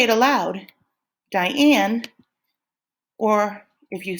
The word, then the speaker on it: Diane: a stressed one so it's just like my name my first name is Diane and when you say Diane you say die low in up say it